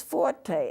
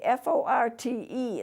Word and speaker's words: forte: The symbols for being loud, F is forte, F-O-R-T-E. It's not pronounced fort, it's pronounced forte.